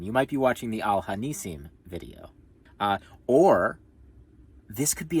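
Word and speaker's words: Al HaNissim: There's just a touch of the like it's mostly Al Hanasim. Yeah. Yeah, no, that makes sense. Yeah. Al Hanisim. Like that? Yeah. Okay. Al Hanisim. You might be watching the Al Hanisim video.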